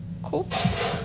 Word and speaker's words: KUCCPS: Coops. I like chicken coupoop. Yeah. Okay. Just let's say the placement service. The placement service. Okay. Yeah. Let's just call it coupoops. Coops.